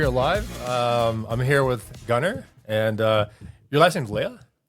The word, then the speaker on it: Gunnar: Yeah, in Norwegian it's Gunnar. Gunnar, okay, yeah, perfect, yeah. But in the US it would be Gunnar.